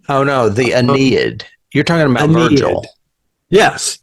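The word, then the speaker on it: Aeneid: actually first mentioned in the Enid I think is the way you pronounce it AE NE D oh no the anid you're talking about Virgil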